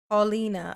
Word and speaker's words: Paulina: Put a 1 in the chat, Pal, if it's Pal, and put a 2 in the chat if it's Paul. Or just type out how I'm supposed to pronounce it. Hey, War Eagle, what's up, boo? Oh, Paulina. Okay, so it's Paul.